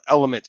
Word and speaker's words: LMNT: best hydration business around element lmnt is how you spell it lmnt but it is element so check it out